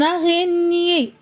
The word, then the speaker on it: araignée: La liaison, une araignée, une araignée.